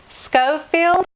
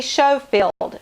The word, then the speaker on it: Schofield: want to say Jane Schofield or it might be Schofield SC Hof I II LD I think it's go field like you would pronounce school Scofield James Schofield Judy cool